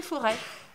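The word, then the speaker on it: Fauré: cité forêts cité fort et ça s'écrit f a eu r e accent aigu du nom d'un musicien célèbre d'avant mais pour nous c'est la cité foray f horaire avec 100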